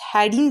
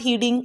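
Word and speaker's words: heading: यूज and that is हेडिंग there now. इट्स नॉट हीडिंग, okay, keep that in your mind, correct pronunciation matters a लॉट, ठीक है। सो इट्स नॉट हीडिंग, इट्स हेडिंग, हेडिंग there now, ठीक है,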